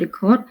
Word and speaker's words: record: example like the word record so now we stress on the first syllable right this word record we pronounce records record